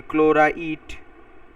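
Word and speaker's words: ক্লোরাইট: এখানে যখন দুই থাকে তাহলে কম তাহলে এট ইট উচ্চারণ হয়। তাহলে ক্লোরা ইট। ক্লোরা এ দেখো ইট বলছি। ইট বলিনি। ড বলিনি ট বলছি। ক্লোরা ইট।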